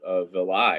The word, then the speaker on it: villi: There are little things called villi or villi, depending on how you want to pronounce it.